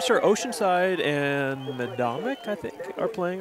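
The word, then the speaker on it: Medomak: I think it's Medomic. It is Medomic.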